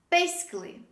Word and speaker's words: basically: this word basically basically we don't pronounce the letter a when we say this word so the correct pronunciation is basically the next word another